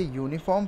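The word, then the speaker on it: uniform: हमने इसे प्रोनाउंस किया तो सबसे पहले क्या आया, यू आया।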